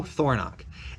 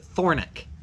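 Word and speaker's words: Thornock: or Eastern accent so my last name is Thor nach K th o R and Ock Thor knock and a lot of people on the like western part of Wyoming I've heard them pronounce it Thorne ik so maybe that's an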